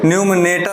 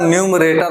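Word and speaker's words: numerator: न्यू मेरेट ठीक है न्यूनेट नहीं होता न्यूमरेशन होता है एन यू एम ई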